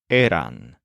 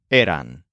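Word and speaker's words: eran: away their word is aan you still emphasize the part of the word that sounds like air but the word ends with what sounds like ran as in ran away Aon meanwhile the curly-haired kid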